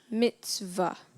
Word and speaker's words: mitzvah: a citation of thanks Mitzvah am I pronouncing the word correctly yes you are Mitzvah m i t